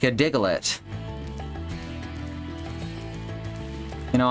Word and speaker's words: Diglett: I have to pronounce it diglett because that's how they pronounced it in the uh in the US dub of the anime. Like not the people, not the humans. The Digletts pronounced it Diglett.